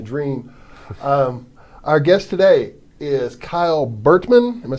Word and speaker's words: Kyle Burtman: Our guest today is Kyle Burtman.